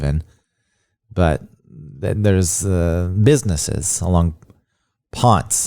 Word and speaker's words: Ponce: But there's businesses along Ponce, as it's pronounced. It's not the correct pronunciation of the man's name, but that's the way they pronounce it in Atlanta.